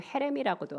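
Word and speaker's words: חרם: 온전히 바친 물건에서 이 바친이 히브리어로 체렘이라고 합니다. 다른 발음으로 헤렘이라고도 하는데요, 이 체렘은 하나님께 바침받은 것으로 사람이 아닌 하나님의 것이다 라는 뜻이에요.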